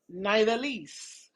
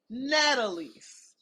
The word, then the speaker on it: Nidalise: Your name is Nidalise. Americans say Natalise. Nowhere in there is there anything that sounds like Tina.